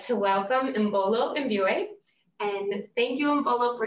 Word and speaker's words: Imbolo Mbue: So my name is Imbolo Mbue, which I've been told is not an easy name to pronounce, but it is pronounced Imbolo Mbue.